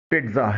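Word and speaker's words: pizza: ہمارے ہاں اسے پیزا بولا جاتا ہے، مگر انگلش میں پہلے زیڈ کے بجائے ہلکی سی ٹی کی آواز نکالی جاتی ہے. انگلش میں اس کا صحیح تلفظ پیٹزا ہے.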